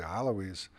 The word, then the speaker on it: Alawis: border, and then there are the Alawis, or properly pronounced the Alawis, of Syria, and the Alevis of Turkey, who have the same name, pronounced differently in Arabic and Turkish, but are in fact different religious communities.